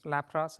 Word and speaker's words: Lapras: true it's true thank you and Pokemon Lapras Lapras is the correct pronunciation what's the answer to the second one